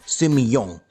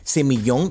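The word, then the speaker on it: Sémillon: uva que se llama semillón, que básicamente es una semilla grande, por eso se escribe semillón, pero se pronuncia semillón.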